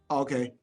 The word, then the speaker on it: saudade: But yes, saudade is something that when you're gonna learn, like more deep, you're gonna understand. How do you spell it? SAUDADE.